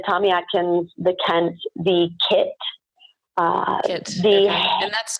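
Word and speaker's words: Keitt: actions the tents the kits and that's called key IET or key IT ok Kei ok ok yep ok and it's pronounced kit I've also learned something again because I've always pronounced that keet so it's actually kids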